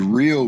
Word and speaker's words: REO: Apparently it's pronounced Rio Brothers.